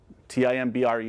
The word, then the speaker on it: timbre: your sound also called timbre t-i-m-b-r-e is pronounced timbre it creates the character